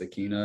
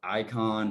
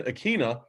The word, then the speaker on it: Ikhine: in Pop Warner, like all the teams I'd go to would always butcher it because it was just Ikhine at the time. Or Ikhine, sorry. See, I even do it. It's not easy. Yeah. And they would always I would hear like Icon, like they were nowhere close.